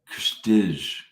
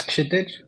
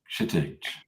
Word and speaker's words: Kshitij: Let's go to Kstij. I'm sure I said that. Jim. How do you say it? It's Kshitij. Kshitij. Wow, that's a tough one.